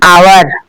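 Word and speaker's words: hour: लेकिन एन आवर ठीक है। एच का प्रयोग एच से शुरू हो रहा है। एच कंसोनेंट है। लेकिन इसका उच्चारण किससे हो रहा है? आवर्स से। ए से हो रहा है।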